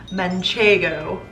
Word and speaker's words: manchego: I'm having a slice of manchego. I'm pronouncing it correctly, we love that.